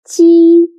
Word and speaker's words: 鸡: 鸡 sounds a little bit like the first sound of jeep, but when pronouncing ji, your tongue should be more flat, and you need to stretch your mouth to both sides.